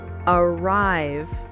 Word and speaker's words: arrive: Most two syllable verbs have stress on the second syllable. Oh, so it's the opposite. Exactly. Listen. Begin. Begin. Arrive.